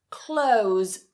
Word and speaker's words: clothes: It may be easier to cut the TH and just say close. Exactly the same as the verb to close the door, to close the window.